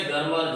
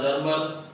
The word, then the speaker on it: Germer: ऐसे गर्मर जर्मर दोनों तरह से प्रोनाउंसिएट करते हैं।